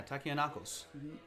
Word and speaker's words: Takianakos: Yeah, Takianakos. Duh. It's not Takis.